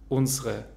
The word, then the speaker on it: unsere: Unsere wird zu unsere mit E schwa am Ende und wir sagen das erste E nicht, weil es in einer unbetonten Zwischensilbe ist.